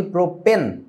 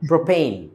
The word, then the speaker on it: প্রোপেন: এখন বলে দেই উচ্চারণটা, যদিও আমরা বলি প্রোপেন, আসলে পেন না, উচ্চারণটা পেইন, প্রোপেন।